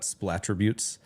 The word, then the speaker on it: splattributes: well, we call that splattributes is how you say it.